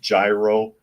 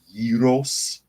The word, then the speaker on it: gyro: and it's not a a lot of people pronounce it gyro g y r o but it's a Greek word and it's pronounced Yos so it's Atlanta Yos and it's a a